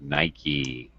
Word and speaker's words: Nike: had Nike and yes this sounds like Mikey Nike ah Nike okay